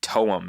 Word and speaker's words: TOEM: It was called, I believe, Toem is how you pronounce it, but Toem is the spelling.